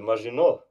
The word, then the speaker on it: Maginot: The Maginot.